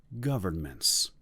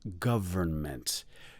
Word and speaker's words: government: It has 3 syllables. The stress or the emphasis is on the first syllable. And yay, you do not have to say the N in the middle of the word. So it's government. Government.